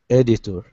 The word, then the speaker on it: editor: Editor. First syllable stress.